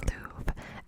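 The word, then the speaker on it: luve: It was actually not spelled love. I know you think I'm mispronouncing it, but it's spelled L-U-V-E. Guess that was a thing in the 18th century.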